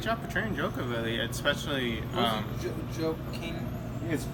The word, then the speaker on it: Joaquin: Joaquin. It's spelled Joaquin.